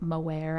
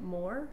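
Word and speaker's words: Moher: like the Cliffs of moare I'm probably saying that wrong in Ireland I think it of Moore Moore they don't pronounce the h all right well read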